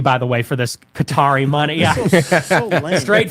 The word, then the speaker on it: Qatar: Qatar? Qatar. Well, it's like it's an Arab word. It has no vowels. It's like QTR. So it's like Qatar is how you would pronounce it, like Arabic.